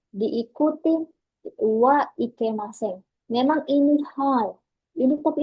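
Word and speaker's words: は: Kata kerja T diikuti wa ikemasen. Memang ini hal. Tapi ini kan hal yang di hiragana. Iya, hal cara bacanya. Tapi ketika masuk di rumus, bukan hal lagi dibaca, tapi jadi T wa ikemasen.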